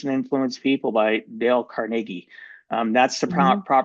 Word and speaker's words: Carnegie: to Win Friends and Influence People, by Dale Carnegie. That's the proper pronunciation, because I get messages and people correct me.